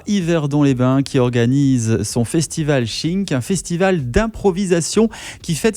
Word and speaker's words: Shiiink: Alors, on peut prononcer chink, par exemple, c'est un peu comme une onomatopée qui est utilisée pour plein de trucs en impro, en fait. On sort un sabre, par exemple, ça fait chink.